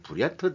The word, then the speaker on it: 브리야트: 편성이 되는 군대 이름이 브리트 대대 그러는데 통합 훈련을 받고 있는데 브리야트은 이게 러시아의 현재 또 브리야트 자치 공화국이 있거든요 요거를 브리트라 발음한 답니다 그러니까 생김 생김은 북한